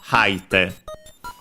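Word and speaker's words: 吐いて: The k falls, haite. As a reminder, the accent of the forms, if the verb is unaccented, it's also unaccented. When the verb is accented, it goes to the third to last syllable, so haite, on the ha.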